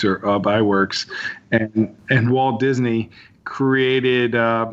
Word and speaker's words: Ub Iwerks: you know how to say his name it's UB Iwerks or by works and and Walt Disney created this character of